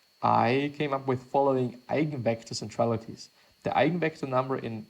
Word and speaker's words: Eigenvector: The 8-vector it's not 8-vector vector, it is Eigenvector. Or I guess it is Eigen, I'm just gonna pronounce it in a German way.